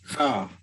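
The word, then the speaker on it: ح: Oh, don't say ah. Say ha. Ha. Right. Ha. Tough one. Ha. Yeah. Yeah. Ha. Ha. Ha. Ha. Ha. Ha. Yep. It's not ha. It's actually just the vibration, of course, is like coming out of your throat.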